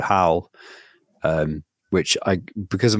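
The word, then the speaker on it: HOWL: on with some other very smart people called how um which I because of my pronunciation h o WL how okay how not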